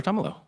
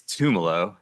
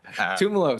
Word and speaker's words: Tomalo: No one pronounces my last name. It's Tumalo. Tumalo. Sorry about that. But I believe it it used to be Tumolo and it's been Americanized.